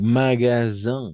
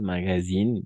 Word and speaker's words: magasin: Aquí, magasin, no es magazine, sí, yo sé que hay una I ahí, pero magasin son las tiendas, magazine son las revistas.